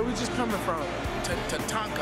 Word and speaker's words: Tatanka: Tatanka, I never can pronounce that right. Kevin Costner's spot. Tatanka. You said it right.